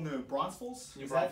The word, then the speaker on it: New Braunfels: So I'm here in beautiful New Braunfels.